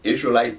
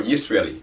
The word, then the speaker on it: Yisraeli: So the proper way to say it is Israeli for... No, Yisraeli. Yisraeli. For man. For man.